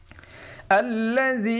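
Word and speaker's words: الله: বের হবে বাই আল্লাজ আল্লাহ একটু মোটা করে উচ্চারণ করতে হবে আল্লাহ আইনটি গলার ভিতরে একটু চাপ উচ্চারণ করতে হবে।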